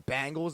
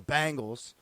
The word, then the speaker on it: Bengals: We got Week 4 coming to a close tonight with the Steelers home against the Bengals, a battle of the 0-3s.